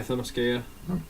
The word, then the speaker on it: Themyscira: Yeah, Themyscira. Themyscira, whatever. How you pronounce it?